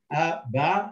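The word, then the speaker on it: أب: Sukun is silent, so it just Ab. It's not a ba, it's not a b, it's not a bu, it's just Ab.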